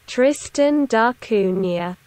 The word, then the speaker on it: Tristan da Cunha: How do you pronounce that? Tristan da Cunha.